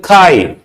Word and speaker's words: chi: pronounced as what K this symbol is called Kai what is susceptability it